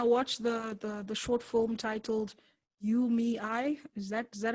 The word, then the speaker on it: UMEI: Especially with when I watched the short film titled UMEI, is that how you pronounce it? Yeah. UMEI.